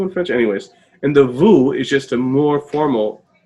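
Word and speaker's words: vous: it sometimes you don't like that v-o-u-s that's vu right so there's no s it's not voos it's vu oh but here the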